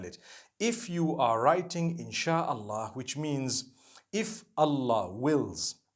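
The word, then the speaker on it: إن شاء الله: Allah so in Allah and when you're saying it you say insh Allah okay so I'm writing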